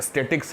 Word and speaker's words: statics: ध्यान रखिएगा, ये स्टैटिक्स है, स्टैटिस्टिक्स नहीं है। बहुत सारे बच्चे स्टैटिक्स और स्टैटिस्टिक्स का उच्चारण एक जैसा करते हैं, वो ध्यान रखें।